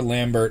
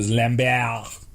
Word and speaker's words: Lambert: now oh my god for years I pronounce the Christopher Lambert only to find out the lam bao because he's apparently [